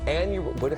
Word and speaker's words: annular: It's the Ring of Fire, or the annular, how do you say this?